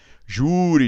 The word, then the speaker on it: júri: então útil tem acento júri e júri e júri muitas pessoas escrevem a palavra júri sem acento se você escrever júri e sem acento como é que você tem que pronunciar julina por quê e